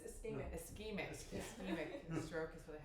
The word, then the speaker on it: ischemic: To pronounce it. AVM. No, it's ischemic.